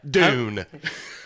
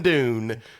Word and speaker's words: Dune: coming soon all right dune thanks for listening i'm coming dune what what todd sorry damn it it rhymes with soon no i get it